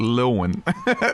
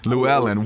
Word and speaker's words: Llewellyn: company name spoken I've always called it lil one for years I've been reading their books since like I was like 13 year 12 13 years old Llewelyn Wow the correct pronunciation you guys make sure